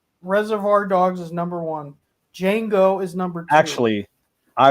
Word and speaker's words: Django: of done with it it's dejango crazy man he's mad at me he goes it's just django the d is silent